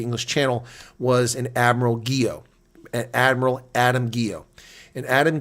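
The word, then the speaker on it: Guiot: You have a first name, a given name, Guillot, G-U-I-O-T, and it's pronounced Guillot.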